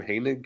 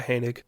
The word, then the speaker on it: Hanig: sponsor is Moffet um how do you say his name hanig yeah hanig uh settle Ford Heist